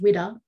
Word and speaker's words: WWDA: Officially established in 1995, Women with Disabilities Australia, pronounced WIDA, is an award-winning Australian Disabled Persons Organisation, or